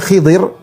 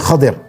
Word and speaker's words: Khadir: Ada yang baca Khidir, tapi banyak yang bacanya Khadir, Al-Khadir, Nabi Khadir. Ada yang baca Khidir, boleh-boleh saja, tapi yang lebih sering disebutnya adalah Khadir, ya.